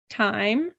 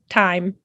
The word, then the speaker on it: thyme: Thyme. Very good. And you hear that this is pronounced exactly like time, T-I-M-E. It's just spelled differently. Thyme.